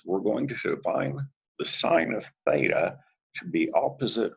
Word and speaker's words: sin: We'll call these functions sin, which we still pronounce as sine, cos, cosine, tan for tangent.